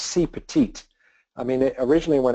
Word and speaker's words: CPeT-IT: cpit and then uh we put the e in there to spell the word petite which is French for small so it's sort of